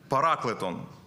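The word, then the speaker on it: παράκλητον: грецькій мові в оригіналі тут використовується слово параклетон воно читається так і воно означає втішитель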